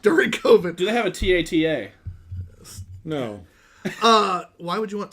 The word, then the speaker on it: AT-AT: AT-AT?